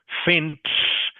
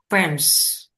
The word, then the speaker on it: fence: So, fence has got an S sound on the end. So, you must pronounce that clearly. So, Wang Viet, can you say fence for me, please? Fence.